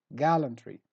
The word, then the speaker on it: gallantry: su word number nine gallantry gallantry so stress gal word number ten impart